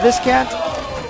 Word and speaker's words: Viscant: Viscant, Jay Snyder. Doesn't get too much better than either of those coaches. Right. Actually, Jay told me his name is pronounced Visant.